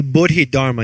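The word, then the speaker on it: Bodhidharma: boded Hara am I saying it right yeah boded Dharma yes bdid Dharma means Enlightenment law and it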